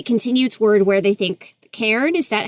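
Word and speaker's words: cairn: a i Ren I just looked at the pronunciation Karen it's it's a mountain of rocks right and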